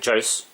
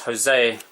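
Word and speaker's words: José: which I was saying Jos got into a lot of trouble for mispronouncing that name Jos is Jose but it's the Jay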